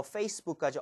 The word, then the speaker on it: Facebook: 그래서 이것도 리을처럼 발음해 주세요. 해볼게요. 트위터. 트위터. 트위터. 트위터. 오케이, 그렇다면 I부터 Facebook까지 all the way 한번 해볼게요.